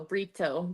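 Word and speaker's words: Brito: pronounce it is that am I saying that right burito yeah b r i t o burrito burrito okay okay awesome or if you're joking with him you can call him burrito oh no I won't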